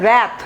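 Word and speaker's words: wrath: তাহলে দেখেন রোথ same word root, র্যাথ প্রোনাউন্সিয়েশনটা দেখেন, উচ্চারণটা হচ্ছে র্যাথ আর এটা হচ্ছে রোথ, ঠিক আছে?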